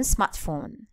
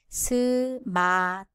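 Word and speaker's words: 스마트폰: There are two things we can look into. The first is the ending consonant T. Again, it needs a vowel to form a syllable. Secondly, phone. There is no F sound in Korean and it is replaced with consonant P.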